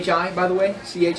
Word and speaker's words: psi: have it in English it's a PS like lips go ahead and put